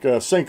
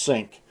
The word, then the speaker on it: Cenk: but it looks like it's pronounced Sink. And it starts with a C.